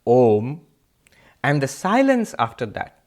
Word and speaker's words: Om: them together it becomes ohm ah and ooh the two syllables are and Oh together becomes oh by the rules of sanskrit grammar and mmm put them together all mmm becomes ohm and the silence after